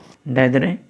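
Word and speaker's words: Diderot: Next is डायदरे, DIDROT। टी जो होता है इसमें साइलेंट होता है।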